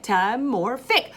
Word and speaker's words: metamorphic: clap matt more thick mad metamorphic four syllables metamorphic and i'm gonna